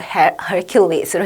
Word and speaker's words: Hercules: 그때 The Statue of Hercules로 해서 그때 나왔었어요. 힘의 신, 제우스의 아들이면서 힘의 신으로 우리가 우리나라 말로는 헤라클레스라고 하는데 근데 어떻게 그렇게 좀 영어식 발음 진짜 발음은 헤라클레스가 아니라 Hercules로 합니다.